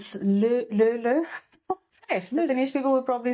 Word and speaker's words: Löyly: It's a Finnish word, and I've been trying to pronounce it. So it's Löyly.